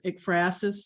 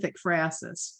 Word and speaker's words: ekphrasis: I looked up how to pronounce ekphrasis today. 4 different ways it came up. Different. Okay, so I'm going with ekphrasis or ekphrasis.